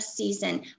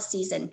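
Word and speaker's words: seizin: This comes from chapter 9, and the answer is covenant of season. Most of the time on the state exam, they just call it season, and sometimes it's spelled S-E-I-Z-I-N.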